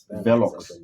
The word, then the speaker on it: Velox: So in just walked, aka is it Velo? I pronounce it Velo. Velox.